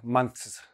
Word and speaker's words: months: A lot of people try to pronounce the TH in this word, months, months. You're just confusing your tongue. You're confusing your listener. Don't try to always put THS. They don't always work.